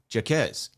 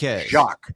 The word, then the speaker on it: Jaquez: Jaquez, not Jacques.